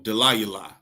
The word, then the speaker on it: Delilah: absolutely it means wickness Delila means feeble and uh how you pronounce it in Hebrew is the the the the that's how you pronounce d Delila in the Hebrew delaya which means feeble or to be weak